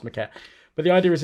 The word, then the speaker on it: Maquette: on the playstation called maquette because i think it's maquette m-a-q-u-e-t-t-e thank you pronounced mcat but the idea is